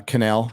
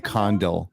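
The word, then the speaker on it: Condal: out uh Ryan uh canel has uh G come out and uh explained it it's Ryan Condell by the way no asz kept on thinking I was like mispronouncing Ryan kennel's name Ryan condle uh I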